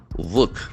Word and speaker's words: work: Work, WORK. As you know, the middle R is silent.